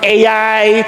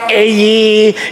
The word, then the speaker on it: Ai: No, some people they would pronounce it AI, some ae.